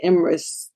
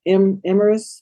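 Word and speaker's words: Emyrs: one of the defendants his name was imris emers i think that's how you pronounce his name e-m-y-r-s yeah he said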